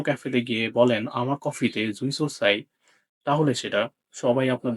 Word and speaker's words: jouissance: সুইসোসের উচ্চারণ এরকম জুই সোস। এখানে ফরাসি শব্দে জু উচ্চারণ হয় না দেখে ঝুই বলতে হবে।